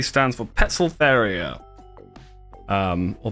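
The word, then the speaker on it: Poecilotheria: P stands for Petzolteria. Or Petzolteria. I think in Latin, when it's TH, you still just pronounce it as a T, right?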